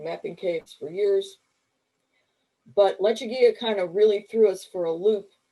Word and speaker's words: Lechuguilla: gorillas because you know lechuguilla lechuguilla people didn't understand how to pronounce that who are not from the southwest and so you know that's where all the lecher guerrilla stuff kind of came from so